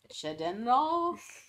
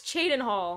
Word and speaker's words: Chadenhall: What is it? Chedenral? Oh, no, it's Chadenhall.